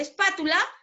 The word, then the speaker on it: espátula: Luego de la última tenemos la penúltima sílaba, que es la tu, la antepenúltima sílaba, que es la pa, donde está recayendo la mayor fuerza de voz, ¿cierto?